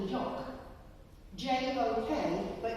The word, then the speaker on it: Jok: J-O-K, but you don't pronounce the J the same way that we do, so they call it a Jok.